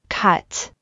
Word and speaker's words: cut: 喉の奥の方を意識して、あ、あ、 cut、あ、あ、 up。